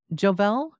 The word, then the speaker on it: Jovell: Is it Jovell? Yes. J-O-V-E-L-L. I am pronouncing it right, then?